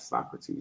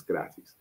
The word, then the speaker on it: Socrates: It's not Socrates, it's Skaratis.